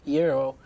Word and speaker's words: gyro: think that is actually it's a Greek word so even greasy they say gyro but in New York usually people just like to change some pronunciation so they say genre cinema hero okay cool and why did